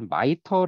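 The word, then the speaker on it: MITRE: 여러분들 요거를 속해 있느냐 그걸 마이터 라고 읽어요 빠이 마이터 라고 있는데요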